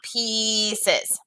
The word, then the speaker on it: pieces: pieces on the ground pieces is one of those words that has the i.e like believe where it's not pronounced with an i it actually has that e sound pieces as the geese gobbled